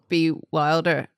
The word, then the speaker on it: Bewildered: That would be weird if we were like, I have a podcast that's called Bewildered, Ed, but you have to pronounce the Ed.